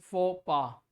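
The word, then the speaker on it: faux pas: पहली बात तो प्रोनाउंसिएशन इसके देख लीजिए, pronunciation is फोपा, right, this is फोपा।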